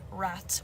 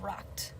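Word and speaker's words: رتق: In the original language in the Quran, the word rat, which I don't think I'm pronouncing that right. It's RATQ.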